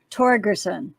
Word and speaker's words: Torgerson: It's a Norwegian name. I'm Torgerson. So a hard G.